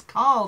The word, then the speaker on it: Carl: It's like his name's not Coral, it's Carl.